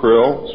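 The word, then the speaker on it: Krlll: name and title was his omnipotent highness krill pronounced krill spelled k-r-l-l-l or c-r-l-l-l in the american tradition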